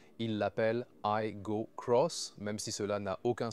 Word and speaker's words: Aygo X: Juste avec l'iGo, on dit iGo Cross, mais c'est écrit iGo X.